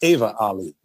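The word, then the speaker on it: Ewa Aulin: 1968, starring, now I'm going to butcher her name, I believe it's pronounced Eva Ali, a Swedish actress who recently resurfaced a few years in Italy, where she's been living as a teacher.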